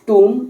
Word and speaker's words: tomb: तानसेन्स टूम, इसको टूम बोलते हैं, TOMB, बी साइलेंट है।